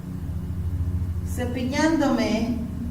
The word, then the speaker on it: cepillándome: And most of the time when you want to look at, you want to separate the syllables. Du, chan, do, me. All right? You cover when you add it and you go back those syllables, and in the second syllable from the back is where you add the acento.